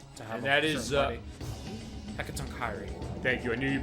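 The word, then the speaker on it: Hecatoncheires: And that is Hekatonkairi. Thank you. I knew you'd be able to pronounce that better than I could.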